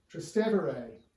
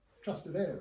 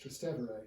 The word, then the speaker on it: Trastevere: uh across the tiber trans tubere was the original latin name and that's why it's not pronounced uh trusted area in a kind of italian way it's still pronounced tristevere because it's trans-tibury the latin um the